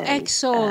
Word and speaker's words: XO: Oh, XO, like hugs and kisses.